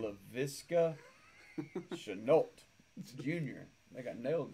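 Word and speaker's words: Laviska Shenault: LaVisca Chenault Jr.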